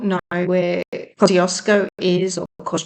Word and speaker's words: Kosciuszko: may not know where Kosco is of course jko if you want to pronounce it a little bit more polish um it in the